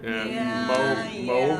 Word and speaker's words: Moab: Moab. Moab. Yeah. In It's absence.